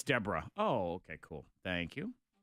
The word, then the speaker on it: Deborah: I'm like, is it pronounced Debra? No, it's Deborah.